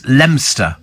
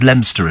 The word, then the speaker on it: Leominster: the other way is lemster spell it's it's it's spelled Leominster but it's pronounced lemster is it where's that